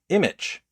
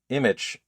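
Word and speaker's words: Immich: Image. Image. Uh, it sounds like the word image, but it's I M M I C H.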